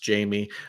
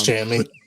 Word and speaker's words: Jammie: And I'm really hoping this man's name is not pronounced Jamie. I really hope it's Jammie. It's Jammie. Yes.